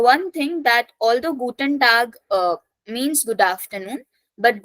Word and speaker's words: Tag: then we have guten tag so a is pronounced as a so if I talk about English we would have said this as tag but in German It Is Tag a so guten tag